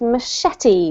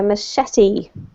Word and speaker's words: machete: This word here is the only word that you mispronounced, and it's machete. A machete.